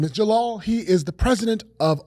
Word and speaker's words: Djalal: joined by a fantastic guest his name is Jalal he is the president of ometria and we are super excited to have him here today hi Jalal how are you good good thanks for having